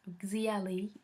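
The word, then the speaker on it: 夏历: The most popular ones are Xia calendar. It's pronounced Xiali in Chinese.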